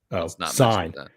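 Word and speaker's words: Cine: dsj all day uh produ pronounced sign um is uh how you say his last name so uh somebody asked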